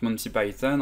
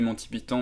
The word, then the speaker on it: Monty Python: Monty Python donc le la prononciation anglaise qui est donc Monty Python en français on dit plus les Monty pyon mais si vous dites